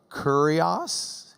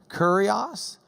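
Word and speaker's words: κύριος: Kurios. It killed the cat, remember? Kurios.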